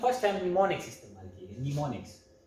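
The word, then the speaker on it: mnemonics: निमोनिक्स एन से start होते हैं। निमोनिक्स, देखिए इसमें एम जो है ये साइलेंट होता है। निमोनिक्स यहाँ से एन से स्टार्ट होता है, लेकिन ये एम देखा जाए।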